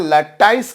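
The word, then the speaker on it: lattice: हैं लैटिस energy इसे कुछ लोग बच्चों लैटिस एनर्जी बोलते हैं कुछ लोग इसे प्रोनाउंस करते हैं लट्टिस एनर्जी ये ध्यान दीजिएगा बच्चों सैम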